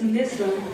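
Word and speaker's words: Nisa: N-I-S-A. How do you spell it? Nyssa. It's a difficult one. Wow, I wouldn't have. It's not that difficult. It's difficult for Nissa. some.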